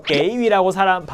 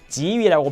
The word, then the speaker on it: 给予: 물건을 실제로 주는 게 아닐 때 도움을 주거나 원조를 하거나 응원을 하거나 이런 걸 격려를 해주거나 할 때는 이런 걸 줄 때는 보통 다 지라고 발음을 하는 게 맞습니다. 그래서 역시 마찬가지로 여러분 꼭 명심하세요. 이거는 오히려 게이위라고 틀린 발음으로 하는 사람들이 많지 않을 거예요.